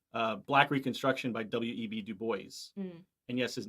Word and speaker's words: Du Bois: black reconstruction by w.e.b du bois and yes his name is pronounced dubois that's how he pronounced his own name dude boys okay he said that it would rhyme with rejoice um so anyway uh